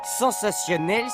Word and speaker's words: sensationnel: Sensationnel s'écrit avec un T. Comme souvent devant ION ou IEN, comme dans natation ou martien.